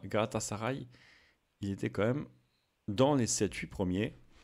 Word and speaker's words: Galatasaray: Prononcé Galatasaray.